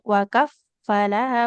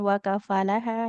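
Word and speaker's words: وَكَفَّلَهَا: Sama fa-nya bertasydid. Wakaf falaha bukan wakafalaha ya.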